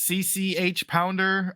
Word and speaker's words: CCH Pounder: I don't know how to pronounce her name, but it's CCH Pounder.